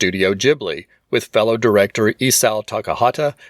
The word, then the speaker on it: Ghibli: would be closer to Gibli with a hard G sound, Miyazaki chose to have the studio name use the Japanese pronunciation of the word with a softer J sound, making the pronunciation studio Ghibli.